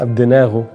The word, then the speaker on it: أبدناغو: ان هي بتنطق جيم، هنا هتنطق غين، ودي الواو الطويلة اللي هي الأوميجا، يبقى الاتنين مع بعض دول ينطقوا غو، أهم كده، دول غو ودول نا ودول دي ودول أب. نقرأ بقى من الشمال، يبقى أب دي نا غو. ده ايه؟ أبدناغو.